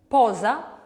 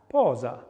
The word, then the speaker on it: posa: So for example, voiced dental fricative would be Z, Z, Z, Z, Z, Z, Z, Z. Example of that? Posa. Posa.